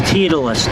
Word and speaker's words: Titleist: Hope titleist is in there. It's not. That'd be D. Okay. None of the above. You're you're not pronouncing it correctly. It's tetalus.